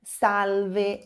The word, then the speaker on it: salve: Salve. Esse L nunca vai ter som de U em italiano, sempre vai ter som de L. Então você vai dizer salve.